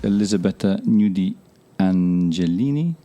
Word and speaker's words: Elisabetta Gnudi Angelini: Hello, my name is Monty Waldin and I'm talking to Elisabetta Gnudi Angelini.